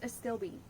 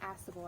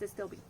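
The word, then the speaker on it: Astilbe: And then when I was at the greenhouse, they had, it's a stilby. That's what it's called, not Astable. I always say it wrong. It's a stilby.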